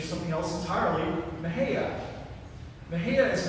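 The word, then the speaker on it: Mexia: even a little bit uncertain because of the pronunciation in Spanish it should be Mahia but if you're just passing through you might be Asia but astoundingly bathroom lady rather the local pronunciation is something else entirely Maha Maha is not a lovely place and there's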